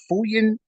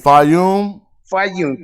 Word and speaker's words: Fayum: Correct me if I'm pronouncing this right. Fuyan or Fayan. It's before the Nakata one. Fayum.